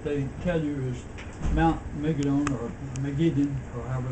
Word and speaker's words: Megiddo: They would say Mount Megiddo then, not Mount Megiddon.